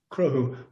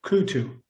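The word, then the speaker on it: Cruthú: And the cruhu has a dot over the T, which is an actual shavu in Irish. And it gives it that sound, cruhu. Most people will pronounce it crutu.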